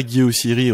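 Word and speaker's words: Guy Oseary: Et si vous connaissez pas Guy Ossiri, regardez sur Wikipédia. Ça s'écrit O-S-E-A-R-Y. Et Guy, c'est Guy, son prénom comme Guy en français.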